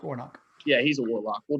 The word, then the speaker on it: Warnock: i think that rafael warlock is that his last name warlock warlock i think i got it warlock yeah yeah i'm pretty sure it's pronounced warnock yeah he's a warlock